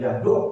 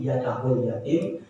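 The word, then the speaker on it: يدع اليتيم: Bahkan ada yang mengatakan yada'ul yatim, ya bacanya bukan yaduk tapi yada'ul yatim, yang mempunyai makna mengabaikan anak yatim.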